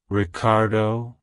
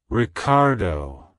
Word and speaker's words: Ricardo: Leadership it's pronounced as Ricardo Ricardo Ricardo to pronounce it correctly emphasize the re and do sounds and make sure to stress the second syllable like hello Ricardo goodbye